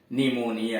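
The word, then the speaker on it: pneumonia: हाँ, आपकी बात ठीक है, पी का उच्चारण प होता है, लेकिन शब्द के शुरू में PN आ गया या PS आ गया तब पी साइलेंट है। जैसे साइकोलॉजी है, निमोनिया है।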